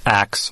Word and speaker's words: ask: I believe I'm here to talk about the historical pronunciation of axe for ask. Scheidlauer says axe has been used since the 8th century and derives from the Old English verb axion. The people who use the axe pronunciation are using the pronunciation that has been handed down in an unbroken form for 1,000 years.